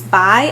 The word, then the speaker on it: Bai: Bai, I think that's how you say it.